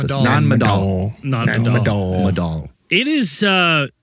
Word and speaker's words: Nan Madol: How do you want to pronounce this? Madol. Nan Madol.